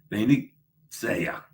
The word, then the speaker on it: Venezia: Remember, the E is always pronounced A as in they. Yeah. Venezia.